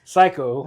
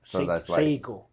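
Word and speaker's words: Saeko: girl his name is psycho psycho I think it I don't know if I'm saying it right but it's s a e ko that's her first name s a e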